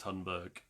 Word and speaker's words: Thunberg: It is Greta Tunberg. Um, it's spelled Thunberg, but it's pronounced Tunberg pretty much.